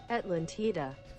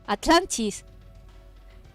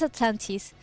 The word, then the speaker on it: Atlantis: Atlantida. What? No. You don't say it like that. You don't say it like that. Atlantida. What? You don't say it like that. How do you say it? Atlantis.